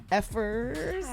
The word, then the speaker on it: Fcukers: Effers. Okay, cool. Cool. Cool. It implies how we actually pronounce it.